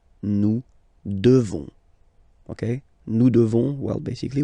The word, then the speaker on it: devons: Nous devons. Okay, classic ending ONS for nous. Okay, you just pronounce this on, on, this nasal. Okay, and then the S, final S is not pronounced. Nous devons. Nous devons.